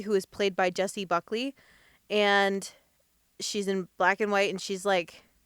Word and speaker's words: Buckley: Is it Buckley or Buckney?